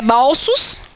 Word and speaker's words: bolsos: É bolsos. Bolsos, nem consigo pronunciar. É fechado também.